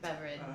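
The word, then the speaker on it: Beveridge: that is it's just it's pronounced that way but it's not spelled that way beverage it's like b e v r i d g e yeah Shannon beverage she get a lot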